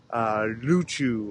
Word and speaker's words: Ryukyu: They were from the independent kingdom of Ryukyu, or Ryukyu, depending on the pronunciation.